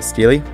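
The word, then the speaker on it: Stele: so on Dan's turn he uses gravekeeper uh Steely reing a com on and a descendant yes people that is how you pronounce the card's name it's Steely gravekeeper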